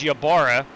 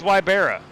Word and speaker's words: Wybera: Brandon weibera a gentleman whose last name I have been mispronouncing for years thought it was yabara but it is wybera yabara you got him